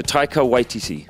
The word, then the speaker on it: Taika Waititi: turn them into teams oh ytt ytt so taika ytt taika ytt yeah i did it you did